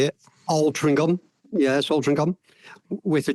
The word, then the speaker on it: Altrincham: Altrincham, yes, Altrincham, with a G.